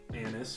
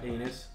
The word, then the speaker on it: anise: definitely getting something like anise or something yeah that's what i'm trying to say anus all right he doesn't know how to say it that's not a vulgar